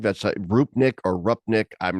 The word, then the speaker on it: Rupnik: a group Nick or rupnik I'm not certain how do you pronounce it Chris do you know uh yeah I believe it's rupnik uh rupnik yeah he's a uh he's Slovenian yes from Slovenia and